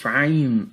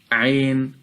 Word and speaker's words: Ayn: And when saying the 2 letters of Ayn and Ghayn, we must complete the harakah of Al-Fathah on them, so the teacher must avoid pronouncing Al-Fathah in a way that it might be heard as Kasrah.